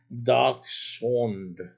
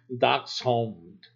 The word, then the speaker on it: Dachshund: So it's dachshund. So it's like hound. Remember that you're gonna have to get that hound sound. Sure of it. Very sure. Dachshund. Dachshund.